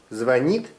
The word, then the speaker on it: звонит: всём всегда везде преуспевай Как правильно говорить звонит или звонит Звонит Молодец как правильно говорить